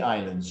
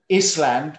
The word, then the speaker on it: island: easter island now salsa it's written island but the s is silent it's easter island bali